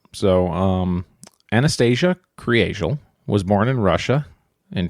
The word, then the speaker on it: Kriegel: So, it looks like Creal, like if you're just looking at it. K R I E G- E- L. Um, but it's pronounced Creel.